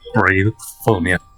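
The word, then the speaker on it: Braefonia: Brave. Bravefonia. California. That's how I'm pronouncing that made up word, whether anybody likes it or California.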